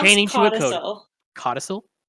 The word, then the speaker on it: codicil: If I am saying it incorrectly, please correct me. It is CODICIL. Codical? Codical? Codical? Or what was it? CAL or COL? CODICIL. No, Isn't it yeah. codicil? No, I think codical. It sounded like you were saying cortical, like Oh, yeah.